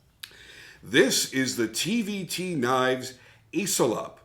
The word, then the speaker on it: ECILOP: is the tvt knives iselop or esselop I guess you could pronounce it that way and this was based